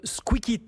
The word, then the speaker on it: Squikit: Bonjour, président et cofondateur de Squeakit, l'ai-je bien prononcé?